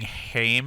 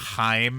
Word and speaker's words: Heim: in and say uh you saying hame instead of Heim is bothering me immensely that's fine I mean